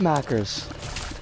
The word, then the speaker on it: Maccas: so much more sense it is pronounced like mackers well maybe with like slightly less of a hard r at the end of it if we don't get